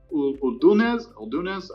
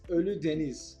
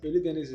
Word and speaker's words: Ölüdeniz: Uldunez. I can't pronounce it. I apologize. No, that's the place that you were telling me. It's Ölüdeniz. Ölüdeniz.